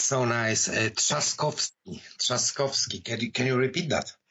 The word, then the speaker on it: Trzaskowski: competitor than about Duda, but I simply cannot pronounce his name. I don't get it. It's so nice. Trzaskowski. Can you repeat that? Say it again. Trzaskowski.